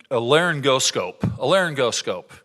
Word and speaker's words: laryngoscope: say this word right, but we have a laryngoscope, right?